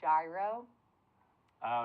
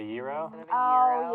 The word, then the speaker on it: gyro: of two fortunate um I call it a gyro oh instead of a Euro oh yeah and it's not because I think it's pronounced gyro it's just because it's a it's a regional thing in Pittsburgh I'm from Pittsburgh and in Pittsburgh they all call it Gyros so they might look